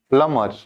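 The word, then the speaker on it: plumber: यहाँ पे बी तो साइलेंट हो जाएगा ना, और जब बी साइलेंट हो जाएगा तो हम इसको क्या कहते हैं? प्लमर।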